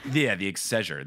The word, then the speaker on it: Exchequer: Oh, the Exchequer? Yeah, the Exchequer. There we go. It said the chancellor of the Exchequer.